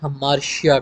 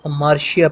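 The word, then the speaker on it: hamartia: और इस खामी को एरिस्टोटल नाम देता है हमार्शिया, ठीक है। हमार्टिया बनते हैं स्पेलिंग, लेकिन इसको हमार्शिया पढ़ा जाता है, ठीक है।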